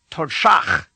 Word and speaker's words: Todshach: The sound at the end of the first syllable of this word, tod, is d. To make this sound, point the tip of your tongue directly upward and touch the hard part of the roof of your mouth, and then do the